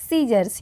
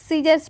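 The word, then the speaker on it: scissors: B long she was cutting out a little dolls frog with a large pair of सीजर्स। यहां पर एस जो है silent होगा। सीजर्स पढ़ेंगे हम।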